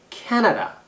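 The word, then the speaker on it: Canada: 그리고 아까 Vancouver도 액센트 주의하라 그랬는데 캐나다도 액센트가 이름절이에요. 캐나다.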